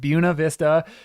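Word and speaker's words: Buena Vista: buav Vista and and yes I know I'm pronouncing it weird but that is how the locals pronounce it unfortunately it feels it feels awkward but bua Vista is how it's pronounced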